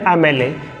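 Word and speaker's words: MLA: Article use हुआ है क्योंकि इसका प्रोनाउंसिएशन एम से ए से चालू हो रहा है, एम एल ए, एम ए।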